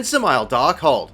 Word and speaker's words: Dzemael Darkhold: Well, look no further than Dzemael Darkhold. Yes, the first D is silent, and it can be